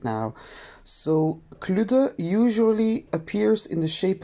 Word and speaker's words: Kludde: mythological creature cluda is we say cluda i know it's maybe a little bit difficult to pronounce so cluda is actually